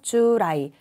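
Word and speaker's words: 従来: 자, 정답은 자, 미래가 아니라 이 부분을 좀 종래, 따를 종자 주라이라고 읽죠. 주라이.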